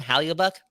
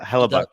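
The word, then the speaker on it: Hellebuyck: Halliubuck? I said it right? Halliubuck. That dude too. He kind of alluded to the fact that Yeah. he doesn't part of a rebuild. You go Hellebuck, yeah.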